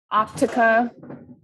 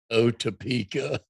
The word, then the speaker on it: Otepka: Optica. Yeah, it's that TP combination that really throws people. Otepka.